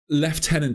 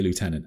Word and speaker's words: lieutenant: this stream because Americans I'm gonna have to say left tenant. Okay, I know that you say lieutenant and I Googled it before today and the reason Brits say left say left tenant is because we misheard the French say like a V instead of